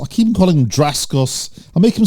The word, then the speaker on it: Dacascos: Mark Dacascos. Oh, no, Dacascos. I keep calling him Dacascos.